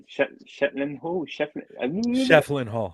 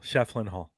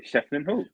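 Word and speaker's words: Schieffelin Hall: But one location that they really keen to do was mispronounced Shetland Hall. Shefflin Hall. Oh, I said it right. Shefflin Hall.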